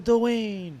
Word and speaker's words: Doane: Yo, Did I pronounce that right? Doane. Yes. Most people get it wrong. Thank you. Yeah? Yeah. Oh, shit. Years. What Doane.